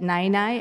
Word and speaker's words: năinai: And I think my two favorite people in your book are Yaya and Nai Nai. I don't know if I'm pronouncing that correctly, but your grandparents. Yeah, yeah, Nai Nai.